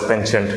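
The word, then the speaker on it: penchant: wait for it P so it has a French derivation but in American English it can be called as pent thank you to master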